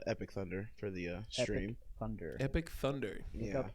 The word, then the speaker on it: EP1K_THUND3R: too because it's not correctly spelled? Spell it. It's not PC. It's EP1K_THUND3R.